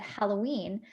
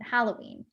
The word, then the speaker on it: Halloween: European parents, said Halloween, I always laughed because it sounded like hallow as part of the word, like hallow or hallowed be thy name, rather than how everyone else pronounces it hollow, as in Halloween.